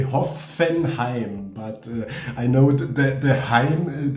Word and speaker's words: Hoffenheim: i like this and in germany we say hoffenheim but i know the the this kind of